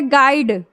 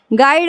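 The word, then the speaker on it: guide: हमारा spelling rule है यदि किसी वर्ड में जी के बाद यू आए तो यू का उच्चारण नहीं होता है बहुत सारे ऐसे वर्ड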